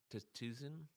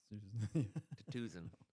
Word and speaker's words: Tsuzen: The T is silent, huh? Yeah, you don't want to say the Sue. Tsuzen? Tsuzen.